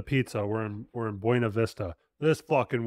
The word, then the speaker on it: Buena Vista: to mispronounce it intentionally anybody that took Spanish in third grade is going to say bu a Vista would you have pronounced